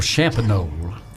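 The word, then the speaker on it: Champagnolle: said it's not even there anymore it's called shabonneau and it's ch a mpag NOL le trench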